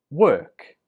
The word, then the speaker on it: work: So 22, we pronounce this word work. Work. Remember, 21 was walk. This one is work. Walk and work. The difference is in the vowel, or and walk and work.